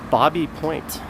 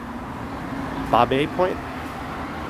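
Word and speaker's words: Baby Point: us up through a neighborhood called bobby point bob a point but it's spelled b-a-b-y so go figure that one out and just to the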